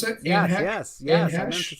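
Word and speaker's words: Anne Heche: Anne Hesh, is that how you pronounce it? Anne Hesh?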